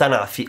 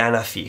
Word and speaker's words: Anafi: Oggi parleremo di Parrot Anafi, o Anafi, come chiamarlo si voglia. L'azienda è francese, Parrot è una multinazionale francese e Anafi è la pronuncia italiana, diciamo, sento sempre più in giro dire Anafi, quindi da oggi Parrot Anafi.